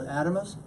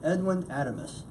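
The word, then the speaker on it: Adames: And that's spelled A-D-A-M-E-S. So Adamus could be. What is it? Edwin? A-D-A-M-E-S. Adamus. Edwin Adamus.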